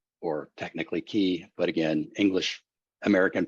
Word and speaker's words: chi: The name comes from the Greek letter chi, or technically chi, but again, English American pronunciation.